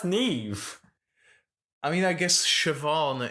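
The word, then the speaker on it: Niamh: names so you know like n-i-a-m-h or something that's neve yeah no yeah that's neve i mean i guess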